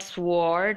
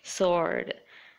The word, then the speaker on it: sword: right answer and sword it's not sward it's sword and a wrist wrist